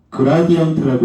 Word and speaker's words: 그라디언트: 자, 이제 11쪽 보면 11쪽 보면은이 역삼각형 기호가 있죠.이 역삼각형 기호는 읽는 방법이 그라디언트라고 읽어요.